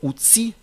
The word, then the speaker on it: outil: mot outil par exemple dans le mot outil la lettre L ne se prononce pas on ne va pas